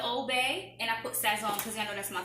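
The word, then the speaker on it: Sazón: This is Sazon. Sazon. Sazon. That's the right way to say it.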